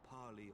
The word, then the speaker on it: parley: I am come before you to parley on behalf of my people. It's parlay, but okay. To parley? You said it wrong.